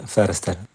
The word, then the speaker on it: Foerster: se suele decir bon Foster mi apellido que es una una adaptación acá Argentina no porque el apellido es de origen alemán y en realidad se dice firster la B corta sería